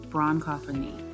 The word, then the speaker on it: bronchophony: Pronunciation, bronchophony.